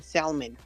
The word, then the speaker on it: salmon: It's not fucking salmon. The L is silent.